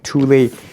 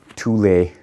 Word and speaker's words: Thule: So, these are also tulle. It's a Swedish brand. I think it's pronounced tulle or tul.